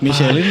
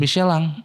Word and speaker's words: Michelin: ini gua Anjing apa Michelin tuh harusnya michelang Bang serius lu emang itu Prancis Michelin itu Prancis Michelin ban ban michelang sebutannya michelang Iya karena in tuh